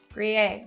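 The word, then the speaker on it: Gruyère: Gruyere, Gruyere, Gruyere.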